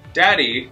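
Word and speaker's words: Dad-E: do a play on Daddy? So have Dad... E, like dad dash E. For me. And all, like it's pronounced as daddy.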